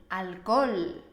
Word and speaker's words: alcohol: bebo alcohol Yo no bebo alcohol no alcohol alcohol Hola alcohol exhausto Héctor Recuerda que en español solo pronunciamos la H cuando decimos palabras de origen